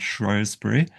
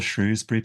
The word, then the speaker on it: Shrewsbury: county town of Shropshire, which is called Shrewsbury, or Shrewsbury. People pronounce it differently. Traditionally, it was called Shrewsbury, but a lot of locals call it Shrewsbury.